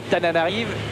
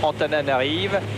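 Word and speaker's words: Antananarivo: 2 heures depuis cette ville que nous les Français appelons familièrement Tananarive et que les Malgaches prononcent Antananarive, la capitale de Madagascar.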